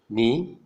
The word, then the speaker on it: knee: For example, in KN, K is silent, as in knowledge, need, make dough, knob, pneumonia, knell means death well, knee.